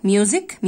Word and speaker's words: music: اللي هو الرياضة math, music السي برضو تنطق, بتيجي في اخر الكلام تنطق ك, music music, اللي هي الموسيقى.